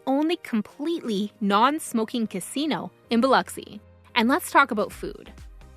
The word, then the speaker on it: Biloxi: Just remember, it's pronounced Biloxi. Say it right, and you'll fit in.